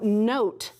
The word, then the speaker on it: note: Here I have the E, that tells me the O's going to say its name, so note is spelled N-O-T-E, note.